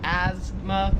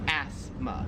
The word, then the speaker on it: asthma: We kind of say it more like a Z sound, like asthma, where here it's more like an S sound, like asthma.